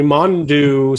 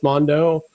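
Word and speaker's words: Mondeaux: um but joe burrow like e-a-u-x will face henry mondew somehow same spelled the same way but not pronounced mondo don't understand anyway um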